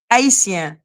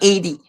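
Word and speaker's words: Haïti: They say Haiti. Haiti, not 80.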